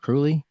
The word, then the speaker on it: Kruly: Is it Kruly? It is. All right. I pronounced it right.